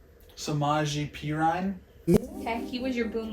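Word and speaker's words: Samaje Perine: Samaji Perine.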